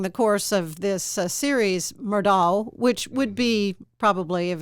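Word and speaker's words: Murdaugh: the name murdock is m-u-r-d-o-u-g-h yeah but it's pronounced doc murdock because we had a big meeting in the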